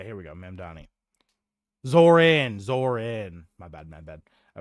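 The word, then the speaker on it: Zohran: Is it Zoran or Zorum? forget. Uh, yeah, here we go. Money. Zoran. Zoran. My bad. My bad. I was spelled without the H.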